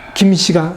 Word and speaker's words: 김: 금계 에서 나왔다고 해서 금식 김식 근데 금식 한자로 국민대 왜 김 이라고 발음하는 지에 대해서는 아직까지 정확한 근거를 못 찾고 있습니다 그때는 거죠 또 역시